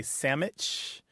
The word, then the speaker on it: sandwich: of messed up anyway I can think of four pronunciations of this word we say sandwich which is standard we say sandwich which you point out we say sammich and we say sandwich